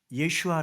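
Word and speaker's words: ישוע: 쓰는 이름인 거예요 어 히브리어로는 예슈아 그럽니다 뭐라고요 예슈아 이걸 헬라어 식으로 음역 헬라어 식으로 발음한게 예수스 그래서 예수가 되는 거예요 그니까 예슈아 예슈아 그래서 여러분들 그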